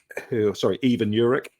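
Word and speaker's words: Ivan Jurić: We brought in Ivan Juric, Ivan Juric, to give him his correct pronunciation, and he's made things better.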